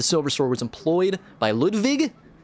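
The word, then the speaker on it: Ludwig: sword was employed by Ludvig you got that German pronunciation the first huh first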